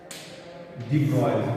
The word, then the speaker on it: de Broglie: De Broglie, pronunciation is de Broglie.